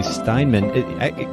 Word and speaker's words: Steinmann: We were chatting before I hit the record button, and I didn't actually get confirmation about the pronunciation of your last name. Did I do okay? Yeah, totally.